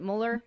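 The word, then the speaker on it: Müller: Is that how we pronounce it? Mueller?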